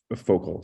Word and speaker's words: Focal: It's spelled like focal, so Focal.